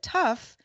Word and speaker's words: TUF: lower end gaming brand tough not initialism it's an acronym like scuba or potus tuf but pronounced tough